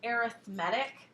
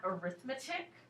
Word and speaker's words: arithmetic: my screen on there this is pronounced arithmetic not arithmetic okay in this context it's arithmetic I honestly don't care